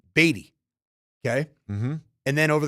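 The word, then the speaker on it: Badie: last thing for me is it baddy or batty we got to know it's batty that's everybody loves Badd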